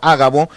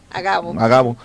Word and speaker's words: Agabo: uno de ellos llamado Ágabo, daba a entender por el Espíritu, o Agabo, no sé cómo se pronuncia, Marta, ¿cómo lo pronuncias tú? No tiene acento. No, entonces, Agabo.